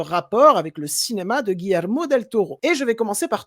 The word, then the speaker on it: Guillermo del Toro: je ne m'abuse d'un grand réalisateur j'ai nommé Guillermo Del Toro est-ce que je l'ai bien prononcé bien perfecto OK et donc ce film